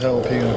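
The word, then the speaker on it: jalapeño: Pick me up a bag of jalapeno chips. All right. Oh, what flavor is that? Jason. Same. The J's like an H, Ricky.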